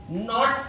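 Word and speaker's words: knots: जो नॉट्स हैं, नॉट्स की स्पेलिंग प्रोबेबली कैसी होती होगी शायद, ऐसा मेरे को फील आई खाली, है ना। और अगर नहीं भी होती है तो हटा देना, यहां पे के साइलेंट है, आई भी।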